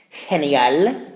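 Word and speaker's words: general: to determine here is if that g makes a hard G sound like G or a soft G sound like ha almost like an H in English so we have the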